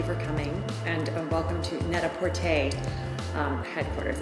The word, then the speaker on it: Net-A-Porter: all thank you for coming and welcome to Neta pte um headquarters it's pronounced Neta pte and it's a play on words for PR